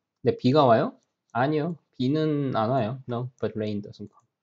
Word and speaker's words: 안 와요: Well, there's a space, but you better pronounce it without pause, like this.